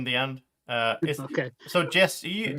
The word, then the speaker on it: Jesse: end uh okay so Jess e how do you pronounce your name the same like Jesse or just I pronounce it Jesse how do you pronounce